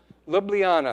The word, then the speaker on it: Ljubljana: Ljubljana, thank you.